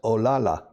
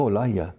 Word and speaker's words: Olaya: My name is pronounced Olala. No, Olaya.